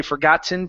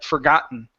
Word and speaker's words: forgotten: that uh for example when I say uh forgotten I don't say forgotten pronouncing a t i say for forgotten okay um when I